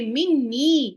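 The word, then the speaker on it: مني: How many noons do I say when I say anni? Is this one noon or two noons? There are two noons that I'm pronouncing. When I say minni, that has come in Quran very many times.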